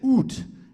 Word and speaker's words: oud: Middle Eastern influenced instrument, and he has an oud instrument. Is that how you pronounce it?